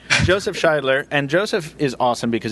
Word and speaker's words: Scheidler: No, but for Michael, it's Scheidler. There's a pronunciation key here.